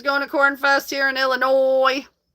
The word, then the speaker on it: Illinois: Um Cornfest, who's going to Cornfest here in Illinois? The S is silent. It's not Illinois.